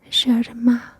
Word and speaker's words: germà: Next, germà, germà. Notice that in Catalan we only have this sound for G and J pronounced j, j, and it means brother.